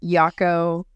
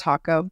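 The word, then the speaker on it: Jacó: to your situation absolutely yeah I live in hako a lot of people mispronounce as yako or Jacko it's really really really bad you'll hear it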